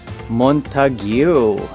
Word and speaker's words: Montague: Narinig ko kanina ang pag-pronounce pala nito ay Montague.